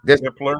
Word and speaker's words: Hippler: Hippler, yeah.